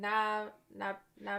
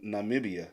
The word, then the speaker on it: Namibia: So, is it Namia? This is Zambia. So, Namibia. Not not media.